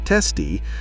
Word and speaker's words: TSTI: resembling a real word, such as TSTI, pronounced by team members as TESTI, for Triangle Services Technology Improvement.